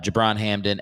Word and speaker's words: Gibran Hamdan: this is uh uh jabron hamden and that's with a soft g softer i guess you did hear that